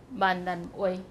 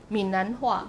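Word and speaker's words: 閩南話: It's called Mannan-wei. Mannan-wei. Okay, that's the Taiwanese pronunciation. Minnanhua will be the Mandarin tradition.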